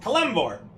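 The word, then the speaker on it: Kelemvor: of kelore your kvor kvor that's how you pronounce it kvor God of the Dead yeah he's the Doom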